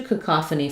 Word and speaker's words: cacophony: So this is, it looks like it would be maybe stressed on the faux syllable, like the word phony, but it's actually stressed on the middle syllable, and it follows the rules. So letter O says the ah sound, and the first letter A is going to be an unstressed schwa. So it's going to sound like ka, ka, th, ni.